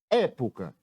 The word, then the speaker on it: época: Época. Como é que separamos a palavra época? É-po-ca. Chamando a palavra época. Qual é a sílaba que eu demorei mais tempo pronunciando? Foi a sílaba é.